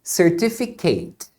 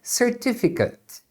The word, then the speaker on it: certificate: verbo certificar você diz certificate agora se for o certificado aí é certificate certificate por exemplo the Training